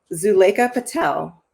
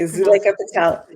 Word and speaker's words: Zuleika Patel: And our final panelist that I'll introduce is Zuleika Patel. And could you tell me if I've pronounced your name? Good day. Yes, you have. Okay, Zuleika Patel.